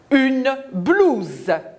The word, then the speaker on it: blouse: Une blouse. U. E. Entre les deux, le S se prononce Z.